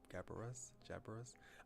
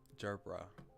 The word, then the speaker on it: gerbera: As they parted, she presents him with a bouquet of faint pink gabaras. I've looked this word up, but I still forgot how to pronounce it. Okay, gerbera.